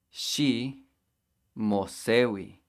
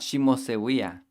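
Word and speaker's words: xi mosehui: She mosewi. Not she mosewia.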